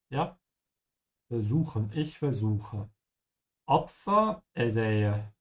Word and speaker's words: versuchen: Remember that the V is pronounced like a F, yeah? Versuchen, ich versuche.